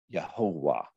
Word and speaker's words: Yehovah: Here we pronounce it Yehovah. Yehovah.